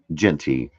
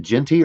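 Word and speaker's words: Jeanty: A in it on the Okay, so it's pronounced Genty without the A.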